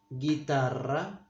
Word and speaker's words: guitarra: I forgot to say that the U sound, that the vowel U is, we don't pronounce it either with Q or with G. When it's gegi, we don't say guegui, but gegi. We don't pronounce it here either. Guitarra, the word guitar, we say guitarra.